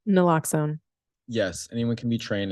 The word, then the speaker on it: naloxone: Naloxone. Naloxone.